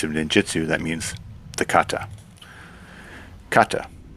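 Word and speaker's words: 型: ninjutsu, that means the kata. Kata. Kata is pronounced gata.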